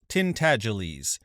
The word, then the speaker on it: Tintagelies: The name is pronounced Tintagelies, but as most people would not take the trouble to pronounce it correctly, they called him Miggs for short.